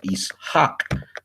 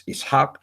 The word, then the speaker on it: Ishaq: So too in the Peshita, it's the pronunciation is Ishaq, right? So too in the Quran, it's Ishaq, and then even in the Vulgate and the King James Bible, it's Isaac, Isaac, or Isaac.